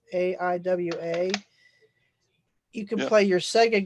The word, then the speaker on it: Aiwa: mini boom Box by I think it's pronounced Iowa it's Aiwa you can play your